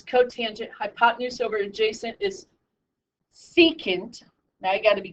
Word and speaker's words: secant: begins with s so SEC is secant so you flip-flop the